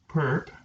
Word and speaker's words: perp: of rn then w perp and it's written like this so you pronounce this w perp like as in perpendicular and you write it